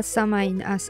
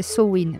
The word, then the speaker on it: Samhain: Bah alors déjà si on prend le commencement à samine on appelle samine la samin soin sa vraie prononciation c'est soin mais vous allez m'entendre la prononcer de plein de façons différentes.